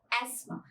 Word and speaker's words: asthma: तो then it इज एस्मा बट दोनों ही pronunciation के अंदर टी एच थ बिल्कुल नहीं आता राइट ये जो है वो साइलेंट है तो हम इसको क्या बोलेंगे एस्मा the word is एस्मा now next word this